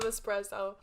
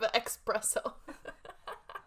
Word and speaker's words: espresso: have a shot of espresso?" I felt so dumb. But that says though. People say that. Yeah, but that's not how you say it. It's espresso. Espresso? It's espresso. It's not espresso.